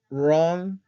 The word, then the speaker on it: wrong: mejorando el equipo Okay errores comunes tiempo equivocado wrong tense wrong tense Okay algunos pronuncian wrong wrong wrong pronuncian la tratan de